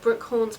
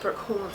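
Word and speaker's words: Brookhants: the school was called brook horns but it's spelt like it shouldn't be pronounced that way it's just spelt h-a-n-t-s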